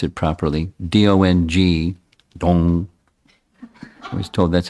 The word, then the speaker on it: Dong: called it's a little difficult for me to pronounce it properly d-o-n-g dong I was told that's how you're supposed